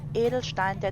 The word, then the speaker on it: Edelstein: which is german for gem of darkness correct pronunciation would be edelstein means gem and dunkleheid means darkness in her